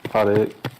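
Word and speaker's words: 7mm-08: Odd 8. think it was 7mm -08. You pronounce it odd 8.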